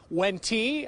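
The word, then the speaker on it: Wente: how to pronounce it you see it W e and te it's when T like in venti coffee I got that from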